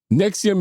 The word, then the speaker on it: NXIVM: to get into it Nexium is spelled NX i v M just in case